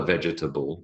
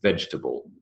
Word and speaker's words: vegetable: he would say uh he would say vegetable but it is not a vegetable it's vegetable vegetable is three syllables now the next word